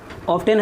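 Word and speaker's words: often: है इसमें आई ऑफ्टन ऑफ्टन है लेकिन इसमें टी जो है साइलेंट है ऐसे वर्ड में टी साइलेंट है आई ऑफ्टन मिस्टेक्स आई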